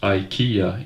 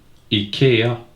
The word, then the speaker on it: IKEA: This is how you pronounce IKEA in Swedish. IKEA.